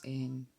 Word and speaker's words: Ai: And they named this little girl I, which is spelled A and I. You know, I. Just like I. You say I.